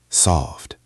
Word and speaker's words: solved: Solved ends in a V sound. That is a voiced sound. So the ED ending is a D. Solved. Solved. It is one syllable, but it is long.